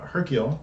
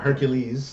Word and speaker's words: Hercule: Hercule, not Hercules, like everyone was saying in the movie, which was upsetting him.